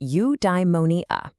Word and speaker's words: eudaimonia: Okay, I've got a new word for you, eudaimonia. It's pronounced you-die-mo-nee-a.